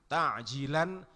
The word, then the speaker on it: ta'jilan: Jadi pakai ain, ta'jilan fardhol lillahi ta'ala. Jangan pakai hamzah. Kalau pakai hamzah nanti artinya malah justru menunda. Jadi kalau membacanya keliru malah artinya menunda.